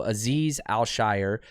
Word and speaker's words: Azeez Al Shaair: it's al shire um al shire so like if you think about like the hobbits right the shire al shire so aziz al shire is the way you